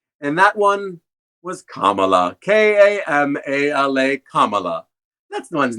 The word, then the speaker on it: Kamala: in at Fourth and that one was Kamala k-a-m-a-la Kamala that's the one's not too hard to